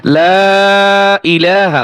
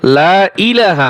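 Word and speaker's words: لا إله: কিন্তু এইযে লা এখানে তিন আলিফ টান হবে। ইলা এক আলিফ টান হবে। এইযে ইলাহা ইযে হামজাই এই উচ্চারণটা আসে না অনেকের। লা ইলাহা অনেকে বলে লা ইলাহা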